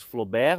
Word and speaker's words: Flobert: Primeiro sobre a pronúncia do nome, obviamente, nós na Itália dizemos Flobert, mas o senhor Nicolas Flobert era francês, nascido em Paris em 1819, ele era um engenheiro que teve uma grande intuição.